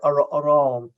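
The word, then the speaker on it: arán: So the reason that in Kerry Irish, we say aran, like a shaw pale, was we put the aran we put the stress on the second syllable because of the Norman influence, because of the French influence.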